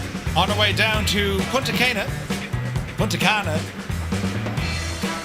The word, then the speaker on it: Punta Cana: It's Cana as in Cana beer. Thank you, Angry B. See, he made it relevant to what I'd understand. A Cana beer.